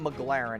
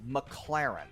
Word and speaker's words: McLaren: times in a row it's not McLaren it's McLaren okay so that's how